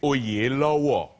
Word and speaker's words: Oyelowo: My dad will watch this and be mortified because he, it's actually Oyelowo is how you say it.